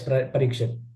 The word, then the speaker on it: Parikshit: Parikshit? Yes, Parikshit.